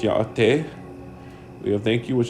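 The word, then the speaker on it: Yá'át'ééh: We have hello, which is pronounced yaate.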